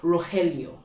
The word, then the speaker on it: Rogelio: And if your name is Rogelio, renowned soldier, roll your R with all your tongue, because it's so damn sexy when you say it correctly.